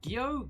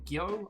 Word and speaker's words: Gyo: I know you picked up, is it Gyo? Gyo? I can never pronounce it. It's G-Y-O, and it's one of Junji Ito's masterpieces.